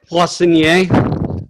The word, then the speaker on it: Poissonnier: How do you pronounce it? Poissonnier.